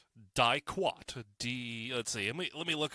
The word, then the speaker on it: diquat: And so the chemical, I believe it's pronounced diquat. Not die-twat, diquat.